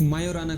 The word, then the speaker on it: Majorana: chip lunch की है जिसका नाम है माराना वन इसमें जे साइलेंट है इसलिए इसे सिर्फ मायो ना कहा जाता है और माना जा रहा